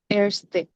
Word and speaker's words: erste: ক্রাঙ্কেন ফ্লেগা, এটা হচ্ছে এটাকে এটসটে বলা হয়, কারণ আয়ের উপরে যদি umlaut Erste. থাকে, ওটাকে আমরা এর মতো উচ্চারণ করি, একদম প্রথম ক্লাসে পড়ছিলাম। ওই জন্য এটসটে হবে। বলুন আবার। Erste.